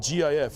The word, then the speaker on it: GIF: Okay, then how do you spell it G-I-F? Or how do you pronounce that? Is that GIF or GIF? Nani? Jip is day. Jif, damn it. I also believe it's Jif.